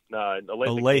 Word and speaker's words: Olathe: Jeremy, did I just totally butcher the name of your hometown? No, you're good. It's Olathe, Kansas.